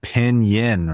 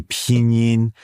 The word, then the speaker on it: pinyin: And so like the letter I, like in pinyin, like it's not pinyin, right? If you pronounce it the English way, you're pronouncing it wrong. You have to say pinyin.